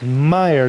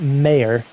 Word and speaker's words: Meyer: It's Meyer, not Mayer. Even though it's spelled out like Mayer.